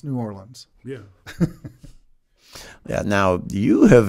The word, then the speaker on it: New Orleans: It's one less syllable, Mississippi. I have been taught to never say New Orleans, so.